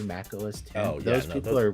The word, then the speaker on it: Mac OS X: comment you're saying Mac OS X it's actually Mac OS 10.